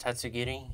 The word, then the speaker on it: Tatsugiri: very cool slight editor no it's pronounced tatsugiri and Don dozo Pokedex is kind of